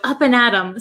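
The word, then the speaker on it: up and at 'em: and at them but we don't pronounce it them we say m we take off the th sound so up and atom sounds like you're gonna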